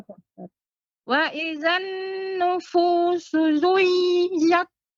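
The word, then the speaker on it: زُوِّجَتْ: Wa idzan nufusu zuwijat. Bukan zui. Wi. Tasydid pada waw Ibu. Wa idzan nufusu zuwijat. Dengan cara ditekankan ke waw, dimasukkan ke waw.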